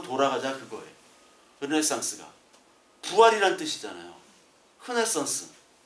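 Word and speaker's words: Renaissance: 흐네상스. 흐로 발음합니다. 프랑스 말로는.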